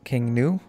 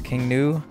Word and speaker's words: King Gnu: And one of them was King New. I'm assuming the G is silent.